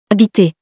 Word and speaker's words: habiter: Habiter. Don't forget the H at the beginning, even if we don't pronounce it.